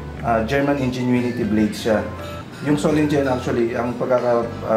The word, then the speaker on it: Solingen: Yung Solingen actually, ang pagkaka pronounce niya is Solinen sa German German pronunciation.